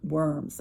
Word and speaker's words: Worms: town that was called Worms, and we usually pronounce it Worms, more like a V.